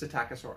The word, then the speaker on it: Psittacosaurus: learn and then I learned that the P was silent and it's just satac aaur Ence actually quite simple